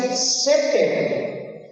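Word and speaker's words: סֵתֶר: La palabra abrigo viene de una palabra hebrea también y se pronuncia seter.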